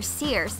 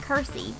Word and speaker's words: Circe: say her name and I would always wanted to call her Sears but it's actually pronounced Kirstie so it's Kirsty Baker performing on four